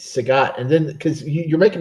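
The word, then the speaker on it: Sagat: You You keep tripping me up by calling the dude Saget. It's It's Sagot.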